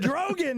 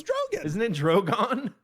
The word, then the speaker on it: Drogon: DROGAN IS MY favorite cuz that's the most like Did you mispronounce that word, too? It's Drogon.